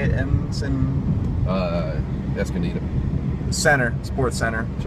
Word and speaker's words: Escondido: Escondido.